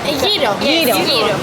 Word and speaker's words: gyro: How do you pronounce this? Gyro. Gyro. Okay. Okay, so it's pronounced gyro.